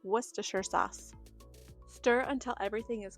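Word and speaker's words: Worcestershire: Uh, my brain always wants to say it with this funny accent and call it worister sauce, but that's not actually what it's called. It's worsher sauce.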